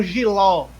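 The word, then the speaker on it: jiló: Como giló, ló. Eu pronuncio de maneira mais forte esta partícula ló, giló.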